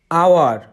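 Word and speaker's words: hour: knife K এন আই এফ ই কে মৌন আওয়ার এইচ ও ইউ আর আওয়ার এইচ মৌনু আর এর উচ্চারণের নিয়ম British উচ্চারণে অনেক সময় আর এর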